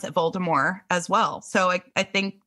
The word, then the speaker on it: Voldemort: But even Harry Potter and the Cursed Child, they pronounce it Voldemort as well. So I think that it's the French pronunciation of the where they drop the T.